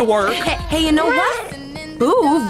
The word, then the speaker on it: Boov: Boov rhymes with groove.